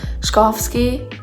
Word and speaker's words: Chbosky: I just watched a video on how to pronounce it. Chbosky.